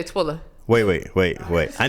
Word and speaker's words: Twilla: her sister she says twiller and i'm like yes it's twilla but everybody says twiller wait say you guys you gotta say yes i lla but most people would just say twilla wait wait wait wait